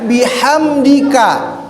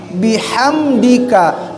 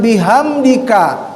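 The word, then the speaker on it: بحمدك: na tiga itu yang yang rawan itu ada di h nya pengucapan haknya sempurnakanlah bahwa H itu adalah hak kecil jadi ada di tengah-tengah tenggorokan ya sama bihamdika ya bihamdika bukan bihamdika karena kalimat memuji kepada Allah dengan hak kecil ya itu biham ya karena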